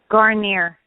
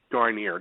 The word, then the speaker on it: Guarnere: family and let's welcome uh Debbie and Jean pronounce the last name for me because I'm I'm an idiot at times garer garer that's it I don't want to disrespect the